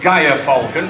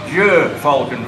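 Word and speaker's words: gyrfalcon: Some people see his name with a G-Y-R and they think it's pronounced Gaia falcon. Turn left. Thank you. Now I know why you've got an L plate. But he is pronounced Jer falcon.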